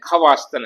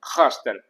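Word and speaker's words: خواستن: वाला भी खासन है नीचे हमने खवा स्तन है लेकिन पढ़ेंगे हम खा स्तन क्योंकि जब भी ख और अलिफ के बीच में वाव आ जाता है तो यजली फारसी भाषा में वाव साइलेंट रहता है इसलिए हम खात नहीं पढ़ेंगे तो खात यानी चाहा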